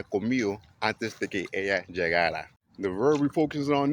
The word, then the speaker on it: llegara: Now you gotta be careful with the pronunciation because they got the future form, which is llegará. That's he, she, it will go.